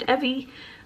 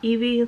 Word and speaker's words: Evvie: read in 2021 was Evvie Starts Over by Linda Holmes. I have started this book and have since learned that it is pronounced Evvie, like Chevy, and not Evie, like the Pokemon.